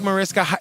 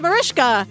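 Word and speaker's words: Mariska: me how to say to explain Marishka harate Natalie had to educate me cuz I thought it was like Marisa I thought it was Marisa hagard this is why we don't read the YouTube comments or whatever the that person was wrong whoever said that it's Marishka when I was touring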